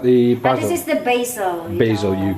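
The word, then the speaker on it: Basel: you is that the Box this is the basil basil you call it the basil we call it yeah basil Switzerland what they call it basil in Switzerland as well no there's a is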